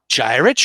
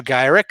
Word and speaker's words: Gyrich: redhead on the cover, Henry Peter Gyrich or Gyrick, however you guys want to pronounce it. I would say Gyrick.